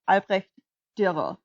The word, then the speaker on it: Albrecht Dürer: There are 15 pages of illustrations printed into a book by a man called Albrecht Dürer. That's how you say it in German.